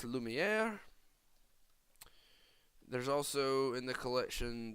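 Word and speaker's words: Lumière: for you today is Lumia Lou meow it is pronounced Lumiere there's also in the collection there is Belle in her presence peasant outfit there's Cogsworth mrs.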